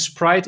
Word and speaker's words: Spruijt: tough to pronounce but everyone knows fanta coca-cola sprite and sprite is close to sprout so if you say sprite i will listen and if you just